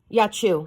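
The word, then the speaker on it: Yaciw: Yachu? Yachu. How do you pronounce it, ma'am? Yachu, like a sneeze.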